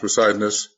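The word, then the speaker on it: Poseidonis: That's how it's pronounced, Poseidonus.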